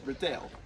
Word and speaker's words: Riddell: That's right, I did say Riddell, and it's not because I'm terrible at my job. It's actually because if you look at his name here, it is spelled Riddell, D-E-L-L. Of course, we know in the Harry Potter series, our notorious leader is actually called Thomas Riddle, spelled D-L-E.